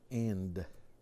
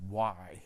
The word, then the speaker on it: y: how do you say end it's written like this e and this Y but it's pronounced E so you can say e always remember that a lot of people say why instead of e e let's say that